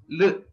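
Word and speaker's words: ऌ: The pronunciation of this is very simple. You don't have to stress anywhere in your mouth. Don't press your tongue against any of the organ or part of your mouth. L.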